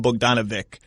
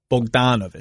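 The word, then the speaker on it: Bogdanović: You're not Simmons, who's going to call him Bogdanovic, but we got to get the "an" out of you. Bogdanovic. It's Bogdanovic. Yeah, I know.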